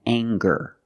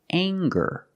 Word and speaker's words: anger: this word and it's anger let's talk about anger we have the nasal sound plus the hard G the G sound together anger anger anger is a noun